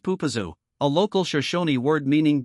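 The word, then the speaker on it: Popo Agie: The river's name is pronounced Pupazu, a local Shashonyi word meaning gurgling river.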